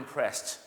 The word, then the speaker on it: impressed: สุด ท้าย นะ ครับ คำ ที่ ลง ท้าย ด้วย ED แต่ ไม่ ออก เสียง อ ก็ คือ impress นั่น เอง ครับ I'm impressed ก็ หวัง ว่า หลาย